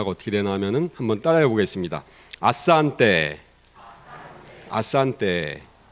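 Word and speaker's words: asante: 틀리고 힘든데 탄자냐 가니까 스왈려는 그냥 철자 그대로 읽더라고요. 그리고 액센트도 뒤에서 두 번째 모음에 있어요.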